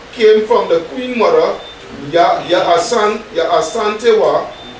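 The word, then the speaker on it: Yaa Asantewaa: The rallying cry came from the Queen Mother, Ya Asantewa, pronounced Ya Ashantiwa, as a woman who hated injustice.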